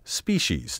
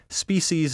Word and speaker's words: species: its popularity today among the over-refined species is now recognized by current dictionaries not one however lists it first that makes my heart glad for to my ear this sibilant species sounds socially ambitious and intellectually superficial in my opinion species is just too precious for words as you can see